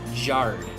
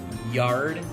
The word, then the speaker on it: yard: Oftentimes, I hear the letter Y pronounced with a J sound instead of a Y sound. For instance, in yard and young, instead of jard and jung, you would say yard and young.